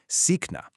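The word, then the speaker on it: सीखना: Sikna, which translates to to learn. The really crucial part when pronouncing this word is to emphasize that drawn out e sound and then catch that soft c right in the middle.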